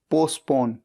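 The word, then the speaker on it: postpone: पी ओ एस टी पी ओ एन ई पोस्टपोन। यहां पर T silent है।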